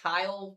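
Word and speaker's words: Kiel: If you're in Sherwood, Stockbridge, Chilton, or I believe it's pronounced Kyle, Wisconsin, guys, this will be headed in that direction.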